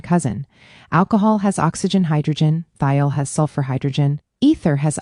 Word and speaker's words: thiol: A thiol, pronounced thiol, has a sulfur hydrogen group attached to carbon.